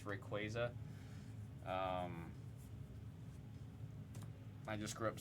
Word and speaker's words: Rayquaza: Like, I've always said Rayquaza. I've been told it's supposed to reference Quasar, so it's Rayquaza.